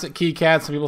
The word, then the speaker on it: KiCad: I pronounce it KICAD, some people say KICAD.